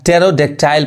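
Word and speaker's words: pterodactyl: अब कोई वर्ड है अगर टी के पहले पी आ रहा है तब भी पी क्या पढ़ाता है, साइलेंट होता है। यानी अब इसको क्या पढ़ेंगे हम, इसको हम टेरोडेक्टाइल पढ़ेंगे।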